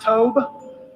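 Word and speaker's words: Tobe: Carroll County Sheriff it's T OBE and it's pronounced Toba and last names lesson b LD a c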